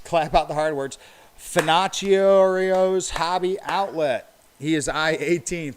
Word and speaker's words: Finocchio's: Finocchio's Hobby Outlet. He is I-18. Finocchio's Hobby Outlet. That's it. It's spelled like Pinocchio.